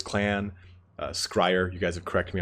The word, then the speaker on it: Skryre: Not Skryre. Sorry, Skryre. Skryre is not the correct pronunciation.